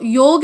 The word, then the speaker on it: योग: इट्स नॉट योगा. हम उसको लिखते हैं इंग्लिश में ए लिखे बिना उसकी स्पेलिंग कंप्लीट नहीं होती है, तो हमने उसको पढ़ना भी उसी तरीके से शुरू कर दिया है, योगा. इट्स जेन्युइनली योग.